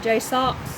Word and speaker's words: JSAUX: price with the Jays what it how you pronounce it Jay Sox Jay Sox but I bought mine back in